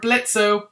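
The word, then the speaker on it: Blitzø: the core character of Blitzo. The O is silent.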